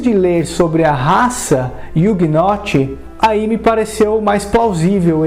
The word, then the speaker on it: Ugnaught: Por outro lado, a pronúncia da palavra Ugnaught é muito parecida com Juggernaut, que em linhas gerais significa uma força imparável.